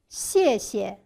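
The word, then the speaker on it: 谢谢: The second in is neutral tone. means you're welcome or not at all. in is also soft tone. Read after me please. Dialogue 4 for you.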